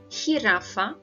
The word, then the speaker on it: jirafa: Letra J is pronounced as H sound, como en Japón, jirafa, Jesús. Let's have a look at this one again. Japón, jirafa, Jesús. Remember, don't ever read it as a J sound in English.